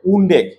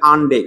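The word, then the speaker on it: undec: হয় না 11 কার্বনরে উনডেক তো অনেকে আবার বলার সময় একটু বলে ফেলে আনডেক না আনডেক না এ উচ্চারণ উনডেক বলতে হবে আর 12 কার্বনের জন্য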